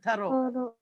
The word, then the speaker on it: Thoreau: It should be pronounced Thoreau. Americans say Thoreau.